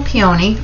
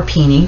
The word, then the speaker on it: peony: then we have um peaceful peony or peony depending on how you pronounce it this one's a little